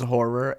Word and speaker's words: HO9909: There's Horror, the artist known as Horror, HO9909 as it's spelled obnoxiously.